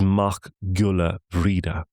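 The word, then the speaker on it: Mac Giolla Bhríde: And McBride, as we mentioned earlier on in the podcast when we were dealing with legal affairs, is Mach Gula Vida, the son of the devotey of Bridgette.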